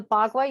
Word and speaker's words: Bagua: So the Bagua, you did say it correctly, Okay.